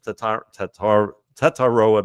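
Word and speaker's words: Tetairoa: Tataroa McMillan.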